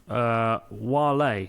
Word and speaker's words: Wale: Pronounced Wale, not Whale, from Atlanta.